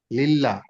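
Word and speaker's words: لله: জের লিল লাম লাম জের লিল লিল্লাহ লিল্লাহ হাজেরি লিল্লাহি লিল্লাহি পাতলাটা হবে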